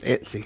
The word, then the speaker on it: Etsy: Etsy? That's how Jaws says it. Etsy.